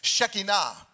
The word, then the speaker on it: Shekinah: Actually, I think the right way to say it is Shekinah. We say Shekinah all the time.